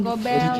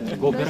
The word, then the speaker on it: Gober: ya, Paman Gobel. Jidoy belum ada. Gober Kak, bukan Gobel.